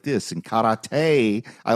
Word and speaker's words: karate: In karate, I like how he can't say karate. He has to say karate every time. Have you Have you Have you seen Boogie Nights? Karate. You got to say it right.